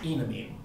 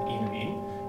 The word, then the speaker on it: enamine: is, but to me, the most logical pronunciation is enamine, because the EN here stands for alkene. You would pronounce it alkene, so it's logical to me to pronounce this enamine.